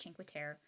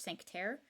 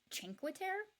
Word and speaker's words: Cinque Terre: It's the picture is a beautiful day at Cinque Terre. It turns out this whole time I've been pronouncing it like it's French, Cinque Terre, but it's in Italy.